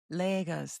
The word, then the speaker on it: Lagos: I was born in Lagos, Lagos.